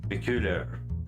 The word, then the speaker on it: peculiar: Peculiar. Yeah, you can see here that the British version almost has no R in the end, even in this English way to say R.